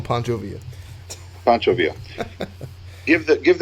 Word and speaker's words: Pancho Villa: two pounds of beer how do you say that Pancho Villa's it's calling Pancho via Pancho Villa if that